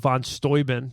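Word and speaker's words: von Steuben: yeah so I saw the uh statue of Von stoin did you know that's how that's pronounced I didn't I thought that but sounds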